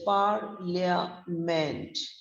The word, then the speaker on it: parliament: careful with the pronunciation the first syllable par is long stressed rhyming with a car we don't say parliament